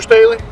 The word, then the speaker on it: Staley: It's officer Staley. Officer Staley. Staley. How do you spell that? Like Stanley without the N.